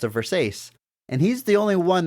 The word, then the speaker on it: Versace: character she says it again thanks it's a Versace and he's the only one that stops and is like it's Versace it's pronounced Versace he doesn't make fun of her he like